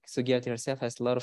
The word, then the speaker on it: Sugiarti: Like Sugiarti herself has a lot of stories. And for me personally, I like that the name Sugiarti rhymes with Ariati.